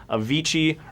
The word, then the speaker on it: Avicii: is he known for Avicii rhymes with serv Ichi I love fish but